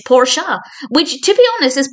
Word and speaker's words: Porsche: And Ross comes along at one point and talks about the Porsche, to which Joey replies, "It's Porsche," which, to be honest, is probably the first